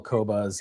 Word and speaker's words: Qobuz: Someone was asking in the comments how to pronounce or how to spell Qobuz.